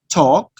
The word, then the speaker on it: talk: In some words, the letter O is silent. Have, talk, could. Notice you don't pronounce the letter L. It's silent letter.